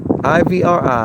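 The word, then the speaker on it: עברי: there you have it the proper pronunciation in the native language of the ancient Israelites this designation commonly known as Hebrew English is Ivri or debrie they say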